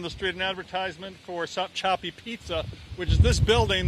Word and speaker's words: Sopchoppy: Let's go to Gary Tuckman, and I'm not sure I'm saying this right, but stop choppy Florida. Gary. John, you are saying it correctly, Sopchoppy, Florida.